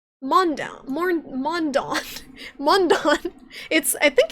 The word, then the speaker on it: Mundaun: what you want because it's a video game mondown mondown mor mondon i think it's swiss i think it's a